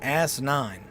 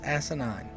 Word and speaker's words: asinine: day asinine asinine asinine sounds like you're saying ass nine that's not how you say it's asinine asinine that's what it is also smoking mirrors if